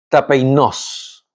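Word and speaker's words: ταπεινός: Y cuando hablamos de humilde, se le dice o se pronuncia tapeinos.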